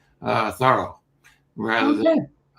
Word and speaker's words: Thoreau: And then as he got thinking about his uh last name he liked the sort of French pronunciation better. Uh thorough rather than thorough thorough.